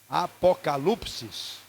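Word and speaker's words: ἀποκάλυψις: que não foi traduzida Qual a pronúncia correta a série A Apocalipse on o Apocalipse se repita comigo apocalipsis e seria a transliteração literal né porque não é uma tradução e a palavra apokalupsis do grego do novo testamento significa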